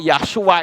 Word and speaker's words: Yahshua: Yod, he, waw, sin, ayin. Karena sin, waw, ayin itu membacanya Shua. Jadi Yod, he itu dibaca Yah, sin, waw, ayin dibaca Shua. Jadi Yahshua.